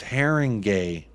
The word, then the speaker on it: Haringey: Haringey is pronounced Haringey.